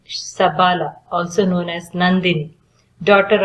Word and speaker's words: Shabale: So Shabale is pronounced as Sabala.